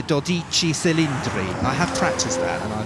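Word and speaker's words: Dodici Cilindri: If we were Italian, I think we'd be calling it Dodici Cylindri.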